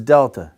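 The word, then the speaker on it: δ: The voiced one is delta. D, d, d. You put your tongue on that alveolar ridge, you break away from that ridge, but you have vibration in your vocal cords.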